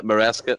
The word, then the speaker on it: Maresca: Yeah, Maresca.